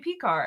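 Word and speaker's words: Pekar: Harvey Pecar.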